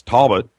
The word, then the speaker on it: Talbot: Talbot has lectured widely in the U.S.